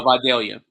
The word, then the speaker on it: Vidalia: Vidalia. Vidalia, okay. 18-8. Yeah, I just want to make sure. I don't want to mispronounce names and everything.